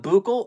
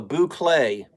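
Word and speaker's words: bouclé: telling me something different boucle not buccal oh boo clay oh it's French I didn't study French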